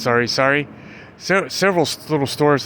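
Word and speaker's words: sari: playing badminton, volleyball, Sorry, it's spelled S-A-R-I. And I guess it's pronounced sorry.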